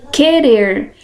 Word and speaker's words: querer: som um único fonema por exemplo aqui querer eu ouço som do que É mas eu não uso o som do uh então aqui eu posso